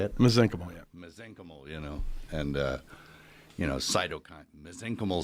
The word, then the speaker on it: mesenchymal: Mesenchymal, yeah.